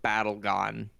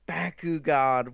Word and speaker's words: Bakugan: games that very much you did not just call it battle gone that's what everyone calls it over here it's how the accent pronounces it no it's Bakugan what the hell everybody